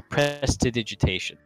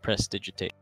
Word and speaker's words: prestidigitation: with precipitation I'm sorry prestidigitation that's the real pronunciation not press digit 8 well I mean I